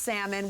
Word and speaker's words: salmon: with you now because if it was supposed to be pronounced salmon why do they put an L in it yeah it's like same